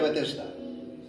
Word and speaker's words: Betesda: que en hebreo, en hebreo significa Betesda, se pronuncia Betesda, el cual tiene 5 pórticos.